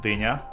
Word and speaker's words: Dina: weird russian is is d-i-n-a means cantaloupe or what's that vegetable called but it's it's pronounced deena so the difference in